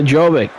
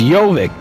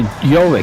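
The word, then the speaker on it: Jović: Powell is it over to Jovic. Jovic will put the shot up that's in there. I guess it's Yoic. So I keep So I was wrong on both pronunciations.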